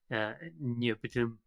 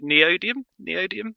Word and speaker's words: neodymium: maybe some of the biggest rare earths, like neobitum. Am I pronouncing it right? That's as good as I, Yeah. that's as good as you're going to get because I'm not going to do any better. Yeah. Neodymium.